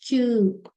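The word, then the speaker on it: きゅ: Ki and you, it is Q.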